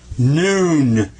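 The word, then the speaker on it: نون: It makes the sound of na.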